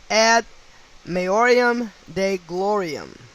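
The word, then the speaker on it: ad maiorem Dei gloriam: second word, third word D-E-I, last word G-L-O-R-I-A-M, ad maiorium de gloriam, which equates to 172 with simple English, and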